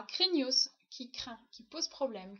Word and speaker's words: craignos: vocabulaire du jour à craignos qui craint qui pose problème qui fait peur il ya toujours un s à la fin qu'on prononce c'est vraiment craignos et le verbe qui